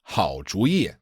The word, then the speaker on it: 好主意: So usually these two characters are pronounced third tone, fourth tone, right? 主意 means idea. Yeah. But when you put the 好 in front of it, it's 好主意.